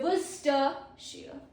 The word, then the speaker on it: Worcestershire: Pro tip. Silent letters Chester and Shire. So these are silent letters. This CEST and SHIRE are silent letter. So we say Worcestershire.